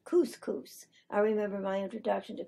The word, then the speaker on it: couscous: of being but another one I had somebody mispronounced couscous I remember my introduction to couscous it was